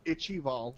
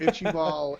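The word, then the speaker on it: Ichaival: analyst says um my I like icky ball ichibald that is the correct pronunciation I'm glad you I'm glad you said it first by the way it's itchy ball and uh it's cool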